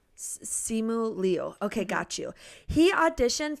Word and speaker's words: Simu Liu: no idea about, I don't know how to pronounce his name. Simu Liu. Simu Liu.